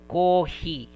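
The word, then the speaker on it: コーヒー: Uh it has a prolonged sound. Coffee. Okay. If you just put like this kohi just like this kohi, it is wrong. It is uh somewhat wrong grammar. I think wrong spelling. Okay. So that is why they use hyphen for that.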